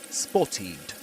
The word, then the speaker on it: spotted: But the rule um in English in in pronunciation here is that if a word if a verb ends in T the ed ending is pronounced as itid spotted spotted.